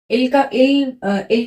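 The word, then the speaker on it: elle: एल को एल pronounce करते हैं।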